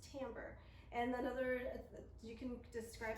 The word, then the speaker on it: timbre: is the word timbre it's spelled like it should be pronounced timber but it is timbre and another you can